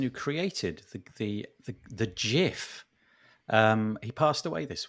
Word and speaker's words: GIF: get them wrong but basically it was it's pronounced jiff it's jiff really from the person who started it